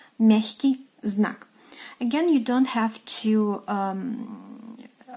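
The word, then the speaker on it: мягкий знак: And in Russian it is pronounced as miahkyi znak, miahkyi znak.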